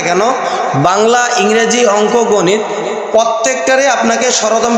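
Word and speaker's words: ب: এটার নাম হল বা বা উচ্চারণ করার সময় আপনার মুখটা খোলা থাকবে। মুখ কখনো বন্ধ হবে না।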